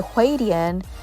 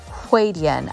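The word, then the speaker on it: huadian: foundation if you're wondering the hwadian quadian i think that's how it's pronounced waydean is h-u-a-d-i-a-n if i am not mistaken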